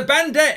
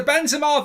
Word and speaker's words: Benzema: It's the Bendit. It's the Bendy. I'll be sacked. You're sacked. You've got his name wrong. It's the Benzema versus Mendy show.